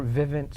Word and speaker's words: Vivint: I work for a Vivint solar would you spell that for us because it's very hard with the way you come out yeah it doesn't sound the way it's spelled it's VI VI NT listen I'm sure that'll